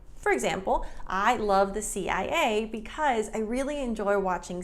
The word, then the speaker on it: CIA: noticed that, for example, in Spanish, they say CIA, but in English, it's CIA.